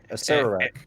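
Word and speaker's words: Acererak: A Sararek. Acerrak.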